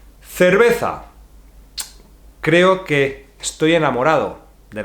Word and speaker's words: cerveza: E, I, C, C, is like the TH in English, think, etc. The same, okay? So let's learn some words with this sound C. Cerveza. Creo que estoy enamorado de la cerveza.